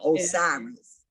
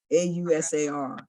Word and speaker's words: Ausar: The Greeks call him Osiris. And there's power in the name. Osar or Osir, Ausar.